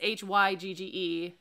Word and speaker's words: hygge: doesn't read no it's h-y-g-g-e so you would think that something along but it's hygge is how you pronounce it and it's that that